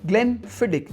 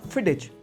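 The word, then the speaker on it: Glenfiddich: ग्लन फिडिक इट्स नॉट फिडेच। फिडिक और आपको याद करने का तरीका था ना आपको पता है फिडिक।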